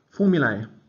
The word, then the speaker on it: formulae: Formulae, they want us to call it, pronouncing the A like in day, but no one does. It's just formula.